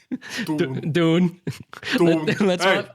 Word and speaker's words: Dune: call it gene well i pronounce the i pronounce the movie we're going to muff d-o-o-n dune let's move dude your is